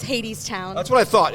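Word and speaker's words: Hadestown: Oh, that's spelled wrong. But it's Hades Town. That's what I thought. It's misspelled, but it is Hades Town, right?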